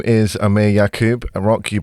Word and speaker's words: Aamir Yakub: the way through it um my name is Amir yakub and rock you pronounce my name perfectly thank you uh I